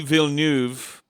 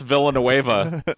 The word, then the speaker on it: Villeneuve: of tees but I'm telling you dude denis villeneuve is doing this dune thing you mispronounced that butchered no no I got it right this time I called him Dennis Villanueva Paul no but French Navy dude Villanova he